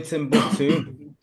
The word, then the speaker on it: Timbuktu: No, the name Timbuktu Yeah, is Timbuktu, and it means proper pronunciation.